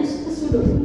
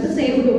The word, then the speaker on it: pseudo: Lalu ada pseudo, bacanya pseudo. Pseudo bukan pseudo ya.